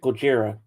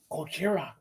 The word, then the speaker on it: Gojira: Oh, I think I know how to pronounce it. Gojira. Mm-hmm. Thank you, sir. Gojira. From Mars. Sounds Japanese. Oh, Gojira. Gojira. Like Godzilla.